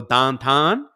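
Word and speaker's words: downtown: is the Pittsburgh accent if you want to go dantan uh that's that's how they say it and uh there's also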